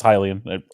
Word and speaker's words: Hylian: The Hylian shield. Yeah, they look sick. I pronounced it wrong. It is Hylian.